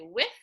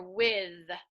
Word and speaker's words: with: with, say, with, and remember that you can pronounce with as in the with, like the silent, the quiet th, or the loud th. So you can say with or with. It doesn't matter.